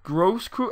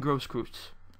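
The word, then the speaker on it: Großkreutz: Grosskreutz. I'm pretty sure that B-looking thing is pronounced with an S. So Kevin Grosskreutz.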